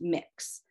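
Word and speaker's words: Mx: to an educator and it's pronounced mix so i know a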